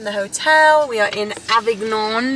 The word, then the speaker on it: Avignon: From the hotel, we are in Avignon. That's how you spell it there. Avignon. We're pronouncing it right.